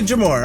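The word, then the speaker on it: JMOR: Okay, so it's J-M-O-R, Jamor? Jamor. Jamor? Is that right? I apologize if it's awful. You can say Jamor.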